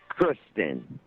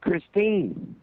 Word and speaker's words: Christine: about, having sex with Kristen. You didn't even say her name right. You kept saying Kristen, and her name's Christine.